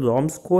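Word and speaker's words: Ramsjö: Craft में आता रॉम्सको, वैसे तो इसको स्वीडिश प्रोनाउंसिएशन रॉम्सको है, बट अब से मैं इसको इंडियन अपने देसी स्टाइल में राम्स जो बोलूंगा, तो राम्स जो आयरन वर्क में वो क्रॉफ्टमैन था।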